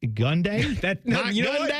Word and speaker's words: Gundy: do that uh Oklahoma State coach Mike gundai gundai G you said it right guy with hair